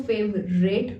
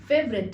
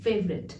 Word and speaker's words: favorite: काफी सारे लोग इसको favorite बोलते हैं पर ये favorite नहीं favorite है, लास्ट में it sound आएगा। favorite.